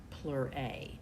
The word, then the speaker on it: pleurae: If we were talking about many membranes that surround lungs, we would call them pleurae, and you would make it a long A in pronunciation.